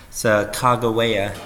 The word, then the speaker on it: Sacagawea: also developed a relationship with a girl named Sacagawea there's sir kagawea depending on pronunciation she was a 17 year old girl